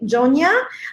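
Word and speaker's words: Yona: it is in the south it is in Joe Nia I know it's spelled with a why but that's how we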